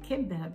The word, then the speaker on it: kibbeh: we think now it's pronounced depending on where your friends where you're from if you're from lebanon or from syria you'll say quebec but if you're from